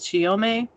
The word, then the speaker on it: Chiyome: nothing about um and even the pronunciation of her name are different she also goes by uh chiyojo as well as chiyome and there are you